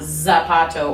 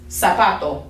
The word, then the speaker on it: zapato: remember okay it just it always makes that s sound we don't do z because again it just it takes too long okay so it's not zapato or abrazo abrazo it's sabato abraso okay so let's say these